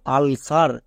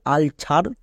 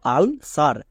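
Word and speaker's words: ulcer: ওয়াই থাকলে দন্তস হই সি এর পরে ই আছে তাই এখানে দন্তস হলো এখানে সি এর জন্য ক হলো না এর উচ্চারণটা কি দাঁড়ালো আল সার একে অনেকে ভুল করে উচ্চারণ করে আল ছার বা আল কার কিন্তু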